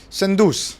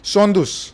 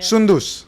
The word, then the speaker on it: Soundous: Sandus. No. Sondus. Yeah. Sundus. Sundus. Sondus. Yeah, it should like come very easy. Sundus. Sondus.